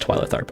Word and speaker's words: Twyla Tharp: remember twyla tharp from now on it is pronounced twilight arp okay sometimes i when i i say the